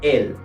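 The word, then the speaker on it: elles: la forma del singular el pero evidentemente la letra s no se pronuncia se dice el el y esto sería todo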